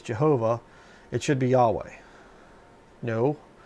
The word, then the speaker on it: Jehovah: I don't say Yahweh. Okay? I believe it's Jehovah is the correct one there. And, you know, I look at the thing and I look at it and I see 3 syllables there. Jehovah. There's 3 within the Godhead. You know. But Yahweh's only 2.